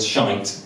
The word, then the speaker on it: shite: No, all I've done is pointed out that the word shite rhymes with the word height.